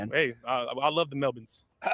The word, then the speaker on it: Melbourne: It's your plane it's not pronounced Melbourne, okay? Melbourne? Mel-bin. Mel-bin? And Mel-bin I don't I don't know.